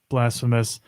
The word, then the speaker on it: Blasphemous: Well, after the show last week, I played a little more of Blasphemous, and I don't know. I think I'm about ready to give up on it. To be honest, It's pronounced blasphemous.